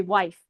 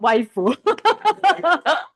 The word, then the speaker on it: wife: Yeah, it should be wife, not waifu.